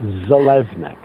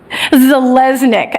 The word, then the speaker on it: Zeleznick: It's Zeleznick. Zeleznick.